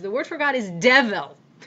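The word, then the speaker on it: devel: The word for God is devil. Devil, which in those English-speaking countries is almost certainly pronounced more like devil.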